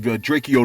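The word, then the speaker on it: Drakeo: We reported to you the tragic events that involved the death of Draco the Ruler. My bad, Draco the Ruler. You know what I'm saying? The E is silent, all right?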